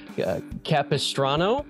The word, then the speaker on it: Capistrano: in San Juan I should ask how to pronounce this before we started Capistrano the semen of Capistrano yes the salmon of